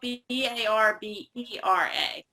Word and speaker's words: Barbera: Spelled like Barbara, but we only say... No, it's actually spelled Barbera.